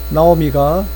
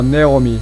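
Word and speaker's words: Naomi: So, 그래서 나오미가 said to her, 그녀에게 말했습니다. 나오미. 영어로 발음할 때는 뭐 네오미 괜찮아요. 나오미, 네오미 상관없습니다.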